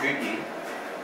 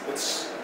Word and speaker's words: Gotye: And ooh, it's not Gotye. It's Gotye.